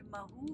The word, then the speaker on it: Mhow: So my parents, they live in a town called Mahu, which is in Madhya Pradesh. It is near Indore. And it's a beautiful town. It's an army cantonment. It's spelled MHOW.